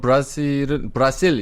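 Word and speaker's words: Brasil: 그럼 브라실 이렇게 하기에는 게 맞아요? 제가 포르투갈어 발음을 정확히는 모르겠어요. 네. 또 포르투갈이니까 현지에서는 네, 또 어떻게 그렇죠. 하는지 모르고. 예, 브라질. 칠레에서 브라질을 부를 때는 브라실. 브라실.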